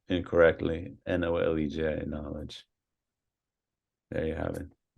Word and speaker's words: Nolej: I might mispronounce this, Nolej Records? It's supposed to be Knowledge. We Knowledge. just spelled it that way because we were young and thought it sounded cool, and it's just been a lot of trouble.